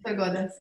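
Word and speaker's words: sphegodes: Ok, sono presenti quattro specie di Ophrys in Romania: l'insectifera, l'apifera, lo strifera subspecie cornuta e prima che non lo pronuncio. Don't worry, it's phegodes, yeah, it's okay.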